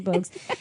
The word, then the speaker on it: Bogues: I want to say Bowles, but I'm pretty sure it's Muggsy Bogues.